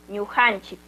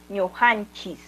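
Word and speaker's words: ñuqanchik: También recordarles que algunos pronunciamos como ñujanchis, terminando con la S. No hay problema si lo pronunciamos ñujanchis. Puede ser ñujanchis, uta también puede ser ñujanchik.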